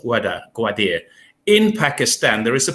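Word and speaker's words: Gwadar: The most important thing is, can China, because China wants to link up to the port, I think it's pronounced Gwadir, in Pakistan.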